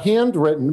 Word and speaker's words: Handwrytten: Yeah, it's Handwrytten, but it's spelled with a Y.